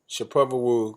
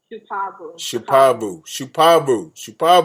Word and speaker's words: Shupavu: Did I say it right? Shapovalou. She's here, folks. Say it again, sweetheart. Shupavu.